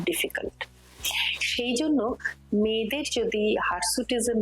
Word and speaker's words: hirsutism: বলি তার নাম হচ্ছে হারসুটিজম হার সুটিজম যদিও বানানটা হার নয় এইচ আইআর হারসুটিজম কিন্তু একটা ভীষণ সিগনিফিকেন্ট